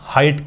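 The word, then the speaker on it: height: इसका उच्चारण भी यहाँ पे आ ई, हा ई, तो यहाँ पे हा इट, आ ई का ही उच्चारण है।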